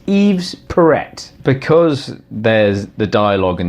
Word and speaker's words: Yves Perret: Yves parrot YZ Perret because nobody knows how to pronounce pronounce right friends think it should be Eve perfect but it's Eve's parrot I think they call him parrot they look no Perret that's it Perret he's is Yves Perret because there's the dialogue